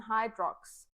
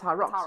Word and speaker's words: Hyrox: going to compete in Hydrox? You immediately get corrected. Yes, it's rocks. It's Hi Rocks cuz you must get Well, I'm also saying it wrong.